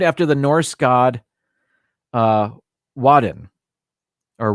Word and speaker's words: Woden: the norse god uh wadden or woden i believe it's pronounced the norse god woden w-o-d-e-n better known at